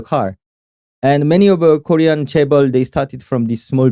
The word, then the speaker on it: chaebol: Can you talk to us about the chaebols in Korea? The chaebols? Chaebol. Oh, did I not pronounce it right?